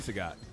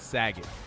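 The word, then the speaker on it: Sagat: Sagot, not Saget.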